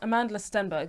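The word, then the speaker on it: Amandla Stenberg: her name Amanda Sandberg yeah she's in um Amanda Stenberg yeah I was right yeah period I think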